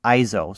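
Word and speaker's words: EIZO: monitor and the manufacturer i believe you pronounce it iso so when i work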